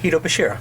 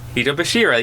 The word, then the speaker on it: Hitobashira: this, which is, and I'm gonna butcher this pronunciation, Hitobashira, which literally stands for human pillars. You said that right. Hitobashira. Hitobashira.